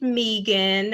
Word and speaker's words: Megan: well hello everyone and it's pronounced megan um vegan like vegan you know i mean